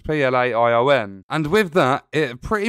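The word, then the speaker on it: Playonn: will live on our play on if it's pronounced play on it's pla i o n and with that it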